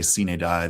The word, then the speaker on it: sine die: and then sine die, take your own Latin pronunciation. I'm no Latin expert, but I've heard enough people say sine die that that's what I use.